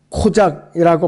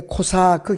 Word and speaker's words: 코사크: 기병대가 2차 세계대전는 코작이라고 발음을 했는데 코사크 기병대입니다.